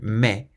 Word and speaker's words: mais: So, me with a silent s on the end.